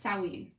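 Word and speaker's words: Samhain: that's i actually think i think it's sowing salween i think is how you pronounce it actually most of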